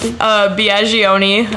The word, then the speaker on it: Biagioni: I think because and she said it rhymes with pepperoni.